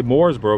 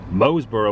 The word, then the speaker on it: Mooresboro: locals pronounce it mose now i would say mooresboro but the locals say moseboro with a z and got the town hall